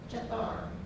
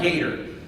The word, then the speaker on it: Gether: We move on from there, and all right, Mara, how do you pronounce Gether? Jethar. Nice try. Try Gator. Gether.